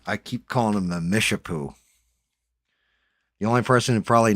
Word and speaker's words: Mishipeshu: Mishipeshu. Peshu. Thank you. Thank you. Because phonetically, like, yeah, I can break that down.